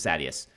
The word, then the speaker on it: Sadeus: No, Sadies is the Sunmaker. Sadius is Sadius. Sadius is said by some people. It's okay either way. I say Sadius. But Sadius is just wrong.